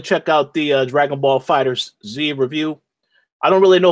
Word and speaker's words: FighterZ: They actually pronounce it as Fighters, like with an S, but it's with a Z.